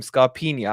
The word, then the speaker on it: Scarpinha: Can I ask, though, can you explain to us the nickname Scarpinha? I'm saying it right. It's a bit of a ye at the end, isn't it? It's Scarpinha.